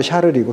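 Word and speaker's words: Charles: 그래서 아까 클로비스를 통해서 496년 이렇게 내려오던 그 왕의 가문이 끝나버리고 샤를은 이제 독일말로 카를이거든요. 이게 불어말로 샤를이고 독일식 발음으로 카를이니까 이 샤를 즉 카를 왕조가 새로 시작해요.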